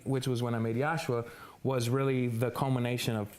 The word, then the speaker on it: Yoshua: Am I saying it correctly? Yeah, Yoshua.